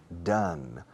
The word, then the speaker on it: done: Done. La pronunciación de hecho no es done, it's done. Como el número uno, one.